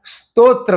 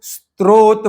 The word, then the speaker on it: स्तोत्र: वहां र जोड़ते हैं और जहां र है वहां जोड़ते नहीं है। स्तो में र नहीं है उसको स्त्रो पढ़ते हैं। उच्चारित करते हैं। और त्र में र है। उसका र छोड़ के त उच्चारण करते हैं। और इस प्रकार स्तोत्र को स्त्रोत बना देते हैं।